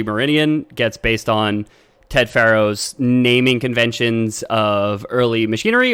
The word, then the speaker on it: Pharaoh: Oh, Pharaoh like that. I was thinking Pharo for whatever. It is written that way, but phonetically it is still Pharaoh.